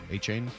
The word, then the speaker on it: Etienne: I I Which is also apparently how you pronounce Travis Etienne's name? No, Achane, also? Yeah, he just recently They're both Achane now, even though it's spelled differently?